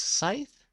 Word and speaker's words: scythe: told me it is on here so it's Scythe I was calling a grass hook whatever anyways